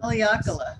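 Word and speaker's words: Haleakalā: Haleakala, I think. Haleakala, there you go. I'm not sure. I should have phonetically put it in, but I didn't. Haleakala.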